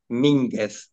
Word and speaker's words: Mínguez: perfil es, con acento en la A, Mínguez, con acento en la I.